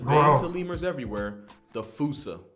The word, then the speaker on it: fossa: to lemurs everywhere the fusa although with its spelling I'm pretty sure it's actually fossa but the day I pronounce it like that is the day I lay my childhood to rest the Foos is pretty